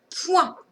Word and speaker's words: point: Alors, avec la lettre P et le son moins O-I-N. Et la lettre muette, eh bien, on l'a retrouvée ici, mais aussi dans pointillé. Je chante T. Et la lettre qui chante T, c'est la lettre T. Mais ici, elle est muette.